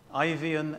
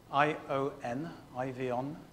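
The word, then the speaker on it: Eifion: You can read about that revival, particularly if you go and Google a character called Ivian Evans, which is spelled E-I-F-I-O-N, Ivion Evans, E-V-A-N-S, and Welsh Revival.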